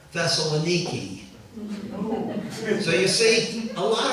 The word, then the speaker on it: Thessaloniki: knows the Greek city I've heard Christians argue is the Greek city thessalonica or thessalonica but you go there and all the Greeks pronounce it who live there Thessaloniki so you see a